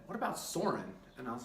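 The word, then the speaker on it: Søren: You can say it's Cern, Soren, there's a lot of different names. We are going to pronounce it Soren, S-O-R-E-N.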